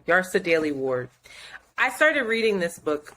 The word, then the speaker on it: Yrsa Daley-Ward: Yarsa Daly Ward. Yeah, Yarsa. It's the first name. Yarsa Daly Ward.